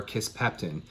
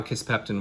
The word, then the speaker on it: Kisspeptin: the beginning of my geek out session for kiss pectin it's a new polypeptide hormone that I'm really